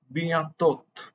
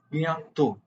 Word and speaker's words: bientôt: The last consonant is most of the time, but not always, silent. It is not bientôt. It is bientôt. The T is silent.